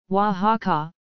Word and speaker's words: Oaxaca: wha-ha-ha Wikipedia article audio wha-ha-ha from Nahuatl languages quasi aqaq pronounced officially the free and sovereign state of